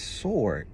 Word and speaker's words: sword: said yeah he said it's sword he said the W is silent I said well where